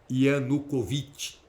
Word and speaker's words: Yanukovych: Do Yushchenko contra o Yanukovych, como alguns preferem falar, numa pronúncia mais russa ou ucraniana, Yanukovych.